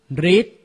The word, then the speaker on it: ฤทธิ์: และ เรอ ขอ รับ อ่าน ออก เสียง ริ เช่น ฤทธิ์ กฤษนา อ่าน ออก เสียง รึ